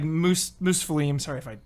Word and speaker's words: Muspelheim: And just going through that, and the way that ties into the other, like, Muspelheim. Sorry if I pronounce these. Muspelheim. Yes. Muspelheim.